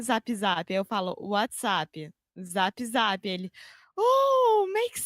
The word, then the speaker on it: WhatsApp: WhatsApp. Yeah. So a good thing here, a good pronunciation tip is what's that is el son de schwa, that really relaxed sound where we just say what's, and then app, that